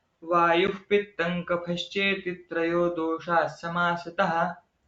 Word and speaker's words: पित्तं: वायुः पित्तं कफश्चेति त्रयो दोषाः समासतः। वायुः पित्तं कफश्चेति, पित्तं कफ, ऐसा उच्चारण अनुस्वार का करना चाहिए।